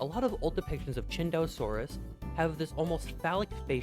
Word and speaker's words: Tsintaosaurus: Anyways, you're saying this dinosaur's name wrong. Mike, play the clip, please. Cintosaurus. Cinttosaurus.